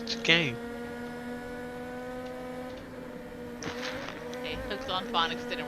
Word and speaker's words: chicane: No, I thought it was like- SH. no, it's chicane.